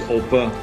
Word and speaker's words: Opa: grandpa grandpa or oppa in german it's oppa you really have to